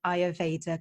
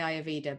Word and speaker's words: Ayurveda: peck of butter sir am i pronouncing I evader correctly you are yes I evader are some people say I Aveda but yes I evader